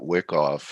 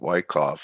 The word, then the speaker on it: Wyckoff: me because you know i called it wick off and blake called it wyckoff so now i know the correct pronunciation of it so uh yeah if